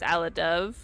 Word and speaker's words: Alidove: but my name is Ala Dove. You know, like the bird dove, like my logo. So what if... By the way, just randomly asking, how do you pronounce the name Ala Dove?